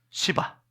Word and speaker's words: 시바: 그런데 한 사람, 발음이 참 조심스러워요. 시바. 혀를 굴리면 안 됩니다. 이 발음은 혀를 굴리면 안 돼요. 따라합니다. 시바. 입을 크게, 뒤에 라 하면 안 돼요. 시바.